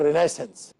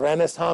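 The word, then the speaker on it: Renaissance: کہ renewal of sciences, انگریزی میں اس کو کہتے ہیں رینیسنس، اور رینیساں بھی اس کا تلفظ کیا جاتا ہے۔ نشأت ثانیہ، تو کس چیز کی نشأت ثانیہ؟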